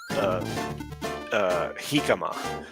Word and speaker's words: jicama: So he's got Shigema, and so I've got Hikama, which is spelled Jicama, and it is actually it's referred to as the Mexican potato, but you can't cook it.